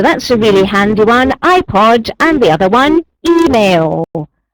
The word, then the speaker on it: iPod: word and very conveniently it is spelled with the letter I pronounced in the letter of the alphabet way so that's a really handy one iPod and the other one